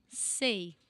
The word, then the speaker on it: sei: So bananeira não sei, sei, ei, like hey, hey. It's the sound say, but with an S in the end, in the beginning.